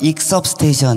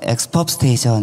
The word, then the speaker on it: Exp-Up Station: 영어 잘하시는 분은 익섭 스테이션 이렇게 발음도 하고요. 저희는 그냥 엑스법 스테이션 이렇게 된 발음으로 발음을 합니다.